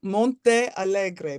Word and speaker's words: Montealegre: Gallery where has her stuff how do you say your last name uh I pronounced my name Monte Allegre but I answer to anything close is